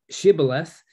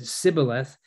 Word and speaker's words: Shibboleth: Then said they unto him, "Say now Shibboleth." And he said, "Sibboleth." For he could not frame to pronounce it right.